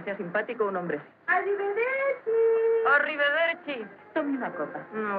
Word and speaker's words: Arrivederci: ¿Cómo se pronuncia eso? Arrivederci.